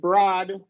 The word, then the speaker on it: broad: The barrier with broad is the one word where OA does not do long O. Oasis is another one, but that's a vowel combination. Here they form a digraph of a short O sound.